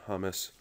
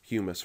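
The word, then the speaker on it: humus: strong healthy soil base good hummus humise rather i always miss pronounce that word thinking it's that a delicious spread that you put on sandwiches and chips but anyway that soil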